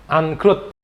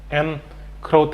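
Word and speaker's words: en croûte: mau bikin salmon angkrut itu tulisannya tapi bahasa Perancis ya tulisannya and crowt gitu and crowt Tapi bacanya angkut gitu ya jadi ini Masakan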